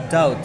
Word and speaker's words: doubt: ragu kan doubts ya doubt eh bacanya itu dari dulu doubt ya guys ya bacanya ini ini enggak ada b-nya doubt gitu ya doubt tidak ragu